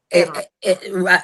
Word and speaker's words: Iran: Iran.